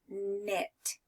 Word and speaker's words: knit: scarf out of yarn the K is quiet so I would just say knit okay let's go ahead